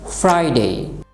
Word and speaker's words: Friday: এখানে কিন্তু আবার লক্ষ্য করুন আর এর পরে কি আছে আই, অর্থাৎ ভাওয়েল। এখানে কিন্তু আমরা আর কে অবশ্যই উচ্চারণ করব, এই জন্য কিন্তু কি হলো ফ্রাইডে।